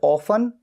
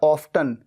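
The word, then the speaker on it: often: जो एडवर्ब है ऑफ जिसे ऑफ या ऑफ्टन दोनों तरीके से प्रोनाउंस किया जाता है यह हमेशा सेंटेंस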